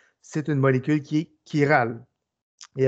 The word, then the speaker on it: chiral: Donc, faites attention, ce n'est pas chiral. Là. Souvent, il y en a qui disent chiral. C'est vraiment chiral. Donc, ça se prononce comme un K.